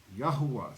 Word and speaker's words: Yahuwah: Y-A-H-U-A-H, Yahuwah.